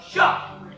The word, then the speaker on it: शाह: बेटा एक बात हमेशा याद रखना, जब भी तुम शाह का उच्चारण करो तो तुम्हारे मुंह से हवा निकलनी चाहिए कुछ इस तरह। शाह।